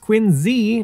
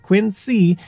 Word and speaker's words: Quincy: methods as for quiny which yes is pronounced Quinn Z not Quinn C the city is home